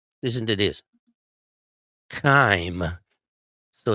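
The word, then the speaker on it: chyme: know if you ever heard of chime but chime is sometimes what people hear when you're a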